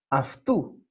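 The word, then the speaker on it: αὐτοῦ: Y se pronuncia, como vamos a ver hoy, aftu. Y les voy a explicar por qué. Aunque se escribe autou, ¿no?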